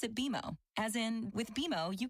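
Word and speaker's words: BMO: when you do I bet you'll call us B and m o don't worry it's more common than you think but we actually pronounce it bimo as in with beo you can earn a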